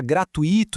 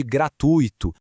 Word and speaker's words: gratuito: É quando alguém fala gratuito em vez de gratuito, ou rúbrica em vez de rubrica.